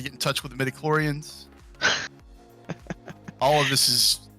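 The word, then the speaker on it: midi-chlorian: There it is. Midichlorian. And if I'm pronouncing that incorrectly for anyone who's like just a deep Star Wars fan, I kind of apologize. I make no apologies. Leave me alone. Wait, we pronounced it right. That's how they say it in the movies and stuff.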